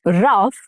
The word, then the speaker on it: rough: In rough, it has the sound of uff, but in though, it has the sound of O. Right?